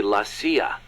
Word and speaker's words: CIA: around here they say la sia instead of c.i.a huh um nothing strange about it that's how it's pronounced when you read it in spanish it has the feminine